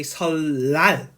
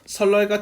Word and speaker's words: 설날: So not 설날, you say 설날. Yeah, I cannot pronounce this 니은 sound. It's impossible. So 1년, here 1년, it is also possible. But 설날, so 니은 changing as a real.